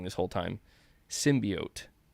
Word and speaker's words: symbiote: wrong this whole time symbiote like oatmeal appreciate that man um